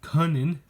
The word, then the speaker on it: Kunin: I've heard Luke himself say his name. It's Luke Kunin. I didn't realize that until I heard him say it himself.